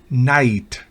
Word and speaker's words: knight: La K antes de N al comienzo de una palabra no se pronuncia. Por ejemplo, knee, rodilla, knack, maña, destreza de uno. Knife, cuchillo. Knight, caballero.